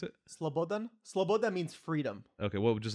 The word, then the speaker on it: Slobodan: around on uh Milo what how do you pronounce it Slobodan Slobodan means freedom okay what just his last name